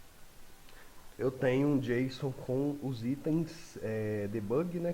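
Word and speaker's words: JSON: de traduzir e organizar o correto da pronúncia é Jason mas de vez em quando eu posso falar J porque eu gosto de falar assim e às vezes dou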